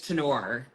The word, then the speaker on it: Turnure: So it looks like Turner, but it's Tenor.